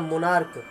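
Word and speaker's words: monarch: मोनार्क, एम ओ एन ए आर सी एच, इसका pronunciation होता है मोनार्क, लास्ट में क आता है, क, तो उसको हम अगर प्लूरल बनाना चाहते हैं तो उसमें हम क्या जोड़ेंगे?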